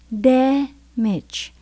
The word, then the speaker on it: damage: Mình nhấn âm đầu tiên, damage. Ở trong từ này kết thúc bằng chi với y. Khi mà mình thấy chi y, mình phát âm là ch.